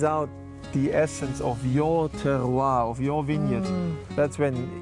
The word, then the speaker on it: terroir: But when you really squeeze out the essence of your terroir, of your vineyard, that's when you certainly taste the difference. What is that word you just said? Terroir, that's the French way of pronouncing it.